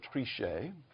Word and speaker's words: Trichet: statements the journal noted jean-claude trichet throwing a little french pronunciation to raise the tone here quote came about